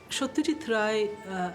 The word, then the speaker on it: Satyajit Ray: Satyajit Ray, I'm pronouncing his name in the Bengali way, was born in a